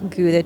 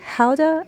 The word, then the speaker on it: Gouda: It's pronounced more like Gouda, I think, there, but through diaspora, now there are several ways to pronounce this cheese, based on regional dialects and accents.